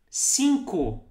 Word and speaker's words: cinco: Some people will say with this U sound at the end, and some will say, as you really write it, cinco, but people also say cinco, cinco, cinco, right?